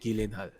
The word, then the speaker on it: Gyllenhaal: oh well they movie the movie IOC Jake Gyllenhaal it's how you pronounce them apparently Gillian like a giant halva